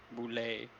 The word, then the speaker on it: Boulet: Boulet. Well, that's how it's pronounced. It's pronounced boulet, but it is spelled like almost like bullet.